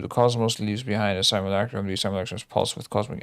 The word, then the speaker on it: simulacrum: I need to know how this word is pronounced, otherwise this is gonna be a long one. Simulacrum. There's no way I can pull that one off. Simulacrum. I actually did it. Holy shit, I'm so good. Simulacrum. I was pronouncing it so wrong.